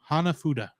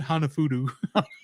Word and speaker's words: hanafuda: name of the game hanafuda hanafuda so we hit this game a hanafuda who's mentioned throughout the beginning I said it wrong didn't I he said hanafudu say with me Hana